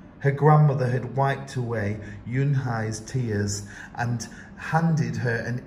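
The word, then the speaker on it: Unhei: II I it's pronounced Eun Hye oh it's you Hey said like in hey what about hey him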